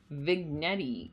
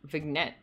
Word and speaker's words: vignette: is that vig also i'm gonna find out how to pronounce it vignette vignette oh those g silent sorry guys a brief evocative